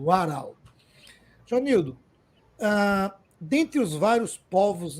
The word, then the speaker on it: Warao: em especial os Warau, que eu pronunciava errado. Não, pronunciava Varal. Agora eu aprendi com o Jonildo Warau.